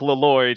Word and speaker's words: Lloyd: All right, Gonk here is his full name is Gonk Lloyd. He pronounces the L's, both L's in his last name here, but he's this tall